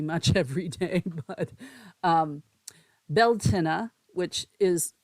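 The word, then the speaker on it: Beltaine: that happens pretty much every day but um beltina which is it's spelled b-e-l-t-a-i-n-e was a Celtic Christian Festival meaning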